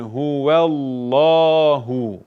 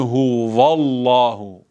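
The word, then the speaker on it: هو الله: bir noktaya daha değinelim vav harfi ince bir harftir Dolayısıyla ve diye okunur oldu Huwallahu Allah'u diye okunmaz Bu da yine sıkça yapılan hatalardan va değil ve kul huvellahu a illallah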